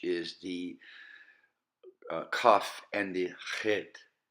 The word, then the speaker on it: chet: the kaf and the chet. Chet, which is a CH, pretty much.